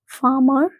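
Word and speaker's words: farmer: फार्मर, फार्मर में भी ये देखिए इसके बाद ये जो आर है ये साइलेंट है।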